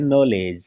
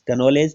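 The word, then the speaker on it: knowledge: पहले क्या आया है के क्या बोलते हैं नॉलेज क नोलेज तो नहीं बोलते क्योंकि के का उच्चारण नहीं होता के साइलेंट होता है नॉलेज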